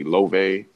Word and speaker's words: Loewe: Yeah, Loewe, or how do you pronounce that? Loewe, Loewe.